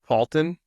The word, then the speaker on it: Palton: Palton. I say that. Palton. Palton. Palton. How do you spell it? P spelled like Paul. The name T O N.